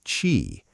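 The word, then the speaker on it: qi: It was about energy, the invisible vital force called chi, pronounced chi, that flowed through every living being.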